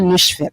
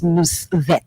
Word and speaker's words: Nusvet: So the pronunciation of my name is not Nushvet, it's Nusvet. Nusvet.